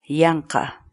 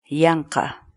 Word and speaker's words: yanqa: série de vídeos onde nós ensinamos você a pronunciar determinadas palavras em Quechua. Portanto, a nossa palavra do dia para hoje é Yanka, Yanka, Yanka.